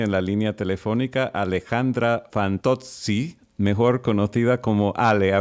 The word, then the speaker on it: Fantozzi: que muchos amigos míos el apellido me lo dicen más Eh sí fanto Generalmente dicen pero vos lo dijiste perfecto fanto lo que pasa es que yo estudié italiano no no lo hablo también como hablo el Castellano pero sí estudié italiano y me encanta hablarlo y me encanta pronunciar bien la la letra Z en italiano O sea que fanto